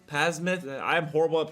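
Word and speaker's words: Psamathe: This isn't Sasmith, Pasmith. I'm horrible at pronunciation. I'm not even, I know, I've been covering the game for 6 years, but I hate the silent P.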